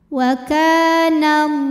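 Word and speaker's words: والله: bacanya panjang dua harakat wallah lam pada lafaz Allah atau lam jalalah dibunyikan secara tafkhim sebab huruf sebelumnya yang Nun barisnya di atas yaitu baris fathah maka cara bacanya ditebalkan pangkal lidah dinaikkan wallah kemudian hukum Alif lamnya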